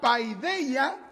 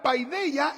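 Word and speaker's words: paideia: Se escribe p a i d e i a paya. Ya. Y esta palabra paideella es una palabra emparentada, relacionada con la palabra griega paidos, que significa un niño.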